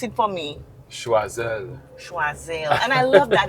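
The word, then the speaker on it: Choiseul: Schwazel and I love that. It sounds so French just like how it is.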